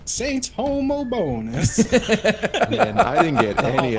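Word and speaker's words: Homobonus: and I was like, there's no way it's pronounced Hobo. Like it's gotta be like Hobobinus or some shit. So we went to Google pronounce and then a robot voice echoes back, Saint Homo Bonus.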